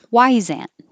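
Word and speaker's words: Wyzant: from the company has why why zan and i think it's supposed to sound like a wise aunt punctual or punctual or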